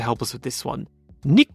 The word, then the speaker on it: Nico: us with this one nik rosberg nik rosberg not just Niko rosberg uh Maui Rose Lou